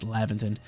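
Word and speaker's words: Laventon: i think i've been i think i've been pronouncing it wrong this whole time i've been saying leviton it's lavinton he's gonna form a brand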